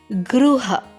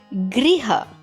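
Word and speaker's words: गृह: Gruha. Okay. Or Griha. Okay. This word is same. It means home. Griha Pravesh or Gruha Pravesh. Okay, both mean the same thing. The pronunciations differ.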